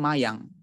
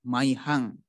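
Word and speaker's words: mayhaṃ: Saya mendengar banyak sekali, bahkan di kalangan para biku yang mungkin kurang membaca ini, itu membacanya mayang. Mayang itu sebenarnya arti kita. Tapi kalau ada begininya, ada hanya dibaca maihang.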